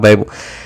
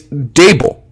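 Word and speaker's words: Daboll: he's texting brian dable which i finally learned how to say his name he's not the bowel it's not babel it's dable and he thinks he's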